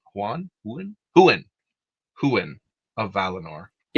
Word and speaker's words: Huan: I don't know how you pronounce Juan Huen Huan. Huan of Valinor.